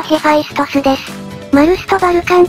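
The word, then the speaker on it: Vulcan: バルカンかヘファイストスはローマ神話ではウォルカノスと呼ばれ英語ではバルカンと発音するのです彼は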